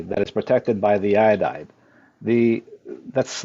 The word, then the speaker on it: iodide: the potassium iodide, I believe it's still pronounced iodide, Iodide, is yes.